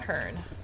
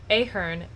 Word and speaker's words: Ahern: Admiral Hearn. Ah, Commander Shepard. This Welcome guy... to Pinnacle Station. Beautiful. I'm Admiral Ahern. Ahern. Sorry, I've been saying your name wrong. Ahern.